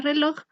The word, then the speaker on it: reloj: En cambio, en la palabra reloj, el acento cae en la última sílaba, loj.